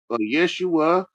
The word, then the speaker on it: Yeshua: A J A J can be pronounced as Y and vice versa. Yeah. Ye was Yeshua.